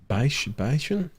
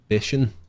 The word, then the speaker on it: Bichon: Bicon pronunciation, please. Bicon? Huh? Bichon.